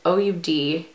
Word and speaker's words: Oud: Oh, I thought it was called Duo, but it's OUD. Ode?